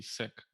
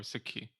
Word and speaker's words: Sikh: but yeah the protect the correct one would be sick or sicky okay cool well thanks